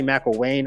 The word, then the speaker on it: McElwain: They are coached by Jim McElvain. I think it's some say McElwain. I'm going to say McElvain first.